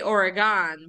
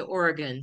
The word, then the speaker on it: Oregon: to remember they'll say do you want a knife or a gun that's how they have you remember the pronunciation so Oregon Washington state which is